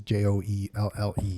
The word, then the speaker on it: Joelle: They'll go Joel or Joel, which is my daughter's name, and which is Joelle, like Danielle, but Okay.